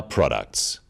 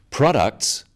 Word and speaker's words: products: one syllable is stressed the wrong stress makes it hard to understand so conclusion not conclusion products not products even more important in